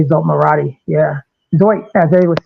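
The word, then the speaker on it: Zsolt: Let's just say it the way we say it. Sounds better. Zolt. I know that's not how they say it. They don't say Zolt, but him and all those guys were just fantastic.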